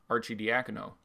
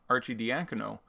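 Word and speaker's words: Arcidiacono: getting worked up about being able to correctly pronounce Archie diagonal and in doing so fumbled over correctly pronouncing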